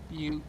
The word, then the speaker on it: Butte: I'm talking more about the pronunciation than anything. I'm just. Oh, my bad. Well, actually, you're in Butt right now, so I can transfer or travel there. Butte.